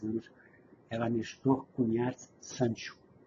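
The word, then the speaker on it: Cuñat: Seu sobrenome do meio, como é que pronuncia? Cunhat. Cunhat. É nome valenciano.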